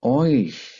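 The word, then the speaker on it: euch: जमा हो जाते हैं, वो बन जाता है ऑइश, तुम्हारा। इसको पढ़ना है ऑइश।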